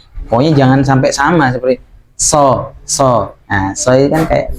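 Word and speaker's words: ص: Jadi kalau so memang dinaikkan biar memang berbeda nantinya. Pengucapannya biar beda dengan huruf sin.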